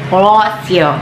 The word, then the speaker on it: Rossio: Rossio, that's a pronunciation for that.